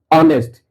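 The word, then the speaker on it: honest: ऑनेस्ट। ऑनेस्ट में एच का उच्चारण साइलेंट हो गया है। अ का उच्चारण हुआ है।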